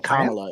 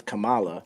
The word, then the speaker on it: Kamala: his name is Kamala you keep saying Kamala it's Kamala all right start tone policing